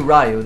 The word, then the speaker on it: Ryu: say because R Ryu rayu there many pronunciations no there any pronunciations I think for the Japanese pronunciation would be Ryu B yeah definitely that's